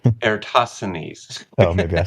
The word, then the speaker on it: Eratosthenes: Eratosthenes? Eratosthenes.